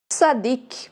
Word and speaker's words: Tzadik: Sua pronúncia lembra o Z da palavra pizza. Essa letra ela pode ser pronunciada como tzadik ou somente tzad, tá? Sem o K no final, e as duas maneiras estão corretas.